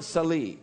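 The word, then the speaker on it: Sel'i: And today's name is this, Jehovah Sali. And it's spelled in English, S-E-L with an, what is that?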